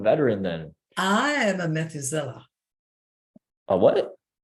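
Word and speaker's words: Methuselah: then I am a methizella uh what I'm Matthew Zella is that the way it's pronounced m-e-t-h-u-s-e-l-a-h did you did you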